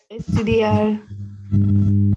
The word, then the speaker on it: estudiar: Estudiar. Estudiar más, more, accent on the A.